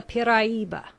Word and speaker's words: piraiba: It is called the piraiba, pronounced in 4 syllables.